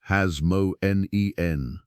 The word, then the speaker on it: Hasmonean: ruling high priests of the Hasmonean dynasty, pronounced Hasmonen.